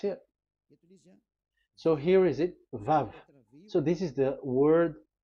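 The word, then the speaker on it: ו: So it's V as in Vogue. So it's really V. How to read Vogue? So the word, the shape Vav is really pronounced V, like Vogue. That is it, pronunciation. So here in this side, it's pronunciation. This is pronunciation. So according to the old Hebrew word today, those who the owner of the words, I mean, so it's a V. So don't change it into W, and you will say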